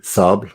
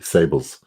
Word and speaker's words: Sables: try Annick Goutal's Sable, pronounce it properly, Sable in French, and for the English-speaking, Sables.